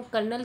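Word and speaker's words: colonel: हैं कर्नल यह विद्यार्थियों कर्नल की स्पेलिंग है सी ओ एल ओ एन तेल यहां आर की ध्वनि कहीं भी अंकित नहीं है जबकि ध्वनि आ रही है कल लगी तो यह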